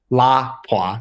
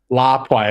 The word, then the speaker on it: Lapua: I also had the opportunity to ask a Finnish shooter personally at an ISSF World Cup event, and he pronounced it Lapua. So I guess Lapua it is.